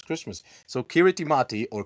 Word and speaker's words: Kiritimati: See with the local accents Christmas yeah and the ti kirati but in the local language ti is pronounced as an s.